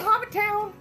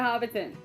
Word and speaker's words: Hobbiton: walk in middle-earth we're going to hop town I said it wrong okay we're going to Hobbiton and then we're leaving